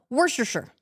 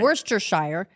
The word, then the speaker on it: Worcestershire: Worcestershire. It's a Worcestershire. Worcestershire. You just throw out as many letters as you want. Right. Just drop half the consonants, drop half the vowels, and you're in good shape.